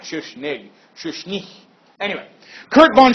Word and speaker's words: Schuschnigg: Chancellor named Kurt von Schuschnigg SCH us got to make sure yes CH n I G G this like GG sound at the end of his name in German according to Freud Soler